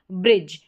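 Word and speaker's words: bridge: बी आर को ब्र पढ़ा, ब्र और आई को ई, और डी जी ई को ज, ये बन गया ब्रिज, बी आर आई डी जी ई ब्रिज।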